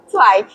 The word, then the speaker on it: Zweig: Zweig. Apa tadi? Zweig. Stefan Zweig. Stefan Zweig. Zweig. C aja bacanya.